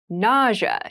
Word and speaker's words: nausea: with an interesting spelling nausea is the pronunciation nausea refers to a